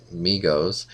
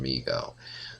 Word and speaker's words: Mego: always call them Megos before I realized it was pronounced Mego. I was wondering if anybody else did that. Surely I'm not the only one, but I had never, I don't think, heard it pronounced until many years later, and I was really surprised it was Mego and not Mego.